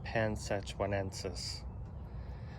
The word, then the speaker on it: panzhihuaensis: this is psychis so i did look up the pronunciation i don't know if it's right but it was pansexuanensis and that's probably a horrible anglicized pronunciation um i'll put the